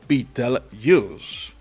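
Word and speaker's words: Betelgeuse: la constelación de orón pronunciada como Beatle Us al estudio no le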